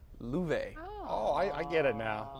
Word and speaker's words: Love: spelled out l.o.v.e but it's an old swedish name pronounced llueve oh I get it